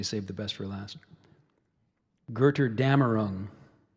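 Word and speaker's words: Götterdämmerung: for last gerter damarung so that's the main pronunciation gerter Dameron we also have a second I haven't seen that symbol before excuse me it's a new one goodter damaroon getter damaroon got her Dameron girter dammer rune and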